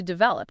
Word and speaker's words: develop: And adapt often leads directly into develop, doesn't it? To develop means to grow or cause to grow and become more mature, advanced, or elaborate. Develop, with the emphasis on the second syllable.